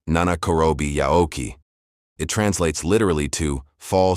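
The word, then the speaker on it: 七転び八起き: juan bi bo chi ki, and it is pronounced nana korobi yaoki.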